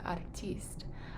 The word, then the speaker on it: артист: an artist right so artiste artiste with accent on the e artiste and in chinese